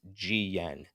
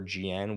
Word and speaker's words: GYEN: That is GYEN. So Gyen or GN, whichever one you want to pronounce it as, is the official stablecoin of the Japanese currency yen.